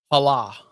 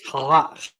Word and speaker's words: challah: Hala. That's not how you pronounce that, he says. Challah.